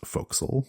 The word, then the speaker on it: forecastle: it's pronounced bosun and the word is spelled a forecastle but it's pronounced fo'c'sle those are some little